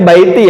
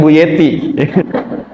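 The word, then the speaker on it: بيتي: Bacanya baiti ya, bukan buyeti.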